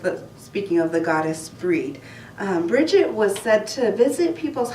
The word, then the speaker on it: Brigid: season and it celebrates the goddess Brigid or breed would be a more appropriate way to say her name Christian's ended up taking